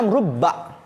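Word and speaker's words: رُبَّ: dimaksud di sini adalah rubba dengan mendomahkan R ingat rnya domma bukan fathah karena kalau rnya fathah artin beda Itu maksudnya wa dan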